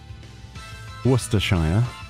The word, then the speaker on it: Worcestershire: I thought you didn't say the Shire part in Worcestershire shows. You can say, what was that? You can say it, and you can also say it without, like, you can say Worcester sauce as well, if you wish.